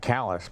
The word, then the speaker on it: Calais: New Brunswick Canada and Calais Maine thank you we'll be back with Cola all right they call it callus by the way go ahead I pronounced